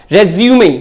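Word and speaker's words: résumé: अगर ये नाउन है तो इसका करेक्ट प्रोनाउंसिएशन होगा रेज्यूमे, मींस बायोडेटा।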